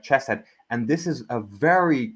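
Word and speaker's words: חסד: The the H with a dot is pronounced like a ch sound. So that would be like chesset.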